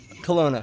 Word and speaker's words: Kelowna: Kelowna.